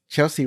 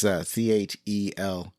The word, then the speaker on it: Chelcie: Chelsea Ross plays Colonel Oates. I think that's how you pronounce his name. It's Chelcie.